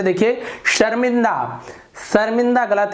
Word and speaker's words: शर्मा: शर्मा, शर्मा, शर्मा, ये गलत है, शर्मा सर, ये गलत हो गया, शर्मा सर, ये सही होगा।